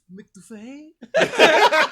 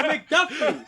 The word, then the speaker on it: McDuffee: And they're gonna say McDuffee. No, you're wrong. It's McDuffie. You're wrong. You pronounced it wrong.